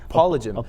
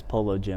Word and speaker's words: Polygym: Polygym. Polygym's a cool tag, but you would never pronounce it like that. It's Polo Gym.